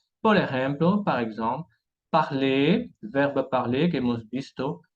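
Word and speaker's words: parlent: Entonces vemos un ejemplo, el verbo parler, hablar, verbo parler, al plural, a la tercera persona del plural, se dice il parle o elle parle, y no il parlant o elle parlant.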